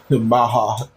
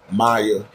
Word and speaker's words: Maha: But he said when he be playing maha on there, but she pronounced her name like on the panel though. Maya at at one point I thought it was Maya until she pronounced her name.